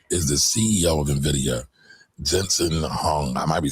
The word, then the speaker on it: Jensen Huang: Now, before we get going, that guy that she is talking about is the CEO of NVIDIA, Jensen Huang. I might be saying his name wrong.